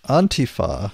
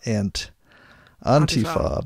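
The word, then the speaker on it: Antifa: a good book you know yeah mark Bray on Tifa and that I believe that's the correct pronunciation on not ant on Tifa because it's taken from Italian all right means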